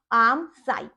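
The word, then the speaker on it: armscye: Pronunciation यही correct है, आर्म साई।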